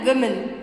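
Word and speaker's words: women: ठीक है, चाइल्ड यानी एक बच्चा, चिल्ड्रन यानी बहुत सारे, चाइल्ड, चिल्ड्रन, गूज, गीज, ऑक्स, ऑक्सन, वुमन, विमेन। ठीक है, इसका प्रोनाउंसिएशन होगा विमेन, वुमन, विमेन।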